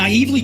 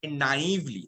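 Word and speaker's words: naïvely: দেখো ওনার উচ্চারণটা খেয়াল করবে, আই নাইভলি, তো নাইভ ওয়ার্ডটাতে উচ্চারণটা এরকম হবে নাইভ, মানে ইটস নট নাইভ, নাইভ মানে একটা টান থাকে ওখানে আইতে। আমি আবার চালাচ্ছি জায়গাটা, college. But I naively chose a নাইভলি, তো ইটস নট মানে নাইভলি, এটা নাইভলি মানে একটা আইতে একটা স্ট্রেস পড়ে ওখানে।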